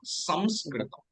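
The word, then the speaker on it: संस्कृतम्: So the correct one is Samskritam. Through nose, we have to pronounce this.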